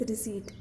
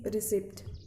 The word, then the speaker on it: receipt: not the right way, as P here is silent, so it will be read as receipt. I often hear students saying, "Ma'am, may I go to take my fees receipt?"